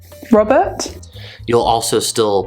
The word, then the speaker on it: Robert: Make sure to remember that initial R sounds in British English are still pronounced, so red, or the first R in my name, Robert. Robert?